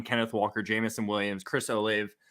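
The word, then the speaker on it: Olave: walker jamison williams chris o'lave alave however you want to pronounce it i think it's a lava it's how you pronounce it but um i'm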